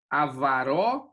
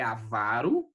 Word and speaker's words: avaro: Então, se ela é paroxítona, o correto é colocar a sílaba tônica na última penúltima, certo? Então, aqui não é avaró ou ávaro, né? É avaro, certo?